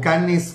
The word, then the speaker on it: Cannes: rusia desde francia el festival de cannes o canes como a veces se pronuncia en mexico no van a recibir